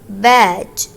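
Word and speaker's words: Badge: बैज, इसमें D silent है, बैज।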